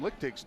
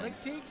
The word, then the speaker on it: Lickteig: So this is Tom Lickteig's team, which I don't know him and I don't know how to pronounce this. Chris, but I would say Lickteig because it's German. Lickteig? Lickteig. It's more Teague.